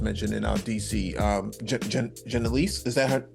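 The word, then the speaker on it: Janeese: Um Janise, is that her how you pronounce her name? Uh Janice Lewis George.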